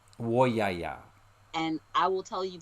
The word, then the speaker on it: Woyaya: And I'm not sure if I'm going to pronounce this right, but the Woyaya song? It's Woyaya. Woyaya.